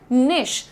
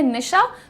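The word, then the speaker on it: niche: खास क्षेत्र या फिर निश। प्रोनाउन्सिएशन यहां पर लिख भी दिया है निश। जैसे आप लोग घर में नाम लेते है निशा। तो उसमें से अ हटा दीजिए। निश बोलिए इसे।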